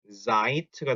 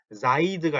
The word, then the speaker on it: seid: 그래서 특히 요 녀석과 요 녀석은 단어 끝에 d가 들어가지만 독일어에서 단어 끝에 있는 d는 무슨 어떻게 발음이 된다고요? t 발음이 나니까 sind가 아니고 sind가 돼야 되고 seid가 아니고 seid가 돼야 됩니다. 요거 발음 주의하세요.